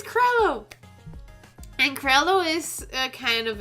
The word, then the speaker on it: Crello: stupid to pronounce things I am NOT talking about Trello it is chrono and chrono is kind